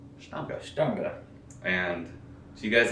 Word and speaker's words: Stange: And it's Stange. Stange. Stange. It's spelled like Stangy, but it's Stange.